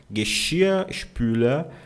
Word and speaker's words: Geschirrspüler: Geschirrspüler, a lavadora de louça, tá?